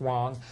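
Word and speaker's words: Huang: a sudden name po out of nowhere John Wong it was uh just prior to the 96 El yes sir it's spelled hng but it's pronounced Wong uh a gentleman out of the West Coast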